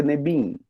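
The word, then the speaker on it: נביאים: Por isso que vocês já estão vendo Neviim, né? Mas mesmo assim a gente pronuncia Nebiim.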